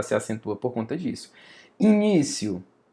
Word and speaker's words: início: Início, ó, início. I ni ci início. Eu não falo início para ser separado. O do final é início.